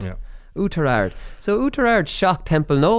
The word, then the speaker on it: Oughterard: So Maheracloon versus, geez lads, Connor, here you pronounce that for me. Oughterard. Yeah. Oughterard.